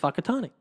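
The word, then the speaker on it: Whakatāne: It's spelled, I know. W-H... AKE, whatever it is, but it's pronounced Whakatane.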